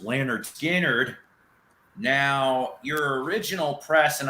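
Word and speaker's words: Lynyrd Skynyrd: biggins skinner ladies and gentlemen the first album pronounced leonard skinnard now your original press and unfortunately i do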